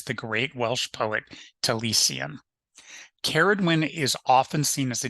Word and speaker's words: Cerridwen: Cerridwen, pronounced Cerridwen, is described as a